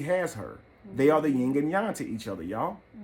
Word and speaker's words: yin and yang: A lot of y'all say yin and yang, but the correct pronunciation is yin and yang.